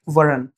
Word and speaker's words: weren't: ये जो वर्ड है ये इसका वर्ड नॉट का कॉन्ट्रैक्शन हमने इसको किया है और ये बन गया लाइक वरन, लास्ट का टी प्रोनाउंस नहीं करो, नो no they वरंट teaching English, right.